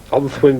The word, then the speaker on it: Onllwyn: I challenge you to pronounce that, actually. Onllwyn? Onllwyn Brace, that's right.